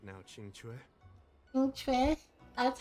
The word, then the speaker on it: Qingque: Qingque? That's how you say it. I bought this character. I just didn't know you pronounce her name.